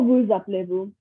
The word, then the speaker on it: vous appelez-vous: And here you can see that I'm pronouncing the S here in vous because the word after vous is appelé, which starts with the A, which is a vowel. So I say comment vous appelez-vous? So instead of sa, it is like a Z sound.